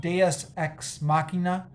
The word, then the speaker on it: deus ex machina: filled with uh i believe the term is pronounced deus ex machina uh just just things coming out of nowhere